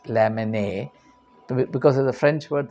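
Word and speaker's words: Lamennais: l a m n n a i s lamon because of the French word the last days is not pronounced the title of the book Words of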